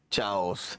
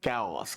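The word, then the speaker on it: chaos: यस, जब आप कुछ प्रोनाउंसिएट करते हैं, इसको मतलब बच्चों, पढ़ो बेटा अवनीश जी, क्या लिखा है, चाओस। ये कहां की बात आई थी, असेंट की। ये है कैओस।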